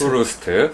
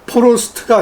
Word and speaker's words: 프루스트: 자, 프루스트 천천히 하면 됩니다. 예. 프루스트. 프루스트. 예. 자, 프로스트가 아닙니다. 네. 그렇죠. 예. 프루스트. 예. 예. 그 버지니아 울프라는 사람은 이 프루스트에 대해서 최후의 위대한 모험가라고 예.